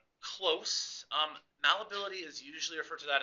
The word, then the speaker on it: malleability: The first one, you say it, here's how you pronounce it. It's malleability.